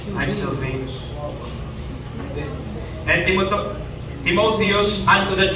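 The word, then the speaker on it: Silvanus: ko yung Aba Sylvanus yung A niya long A so Sylvanus pala ganda ng pangalan what's your name I'm Sylvanus and Timoth Timotheus unto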